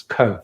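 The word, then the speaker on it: Cobh: My incorrect pronunciation of Kolb was called Pop, it's Co.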